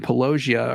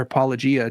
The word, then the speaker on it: Apologia: I always used to say Pelosia and now I'm trying to pronounce it the way Apologia says it.